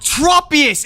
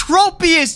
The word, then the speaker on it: Tropius: And I bring this up because uh GC Nathan pronounced it tropeus. It's not tropeus. It's tropous.